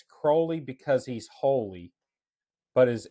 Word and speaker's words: Crowley: He said that it was Crowley, and he had a little jingle to remind you that it's Crowley and not Crowley. Okay. And what it was it's Crowley because he's holy, but